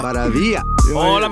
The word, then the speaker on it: Maravilla: Maravia.